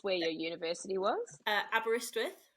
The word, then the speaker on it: Aberystwyth: yeah I just want to know how you pronounce where your University was uh aberystwyth right if you think that's um Welsh yeah